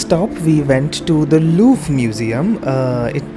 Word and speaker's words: Louvre: For the next stop we went to the Louvre Museum. It's you know, pronounced in many different ways. The Louvre Louvre Museum or Louvre Museum. I would rather call it the Louvre Museum.